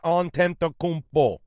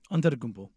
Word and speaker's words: Antetokounmpo: Giannis Antetokounmpo. Did I say that right? Antetokounmpo.